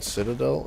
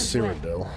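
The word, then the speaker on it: Cyrodiil: what to do um do you mean Citadel no it's cidel now we must secure this place it's a location cidel is spelled c yr o d i i l um it's this part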